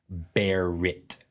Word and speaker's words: Barrett: or a coffee shop it is either Garrett or okay or Barry it's never Barrett unless I say Barett and so every time